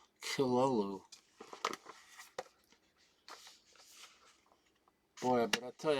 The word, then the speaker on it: Cthulhu: That's how you pronounce it, Kilolu. With a slight guttural sound on the Kilolu.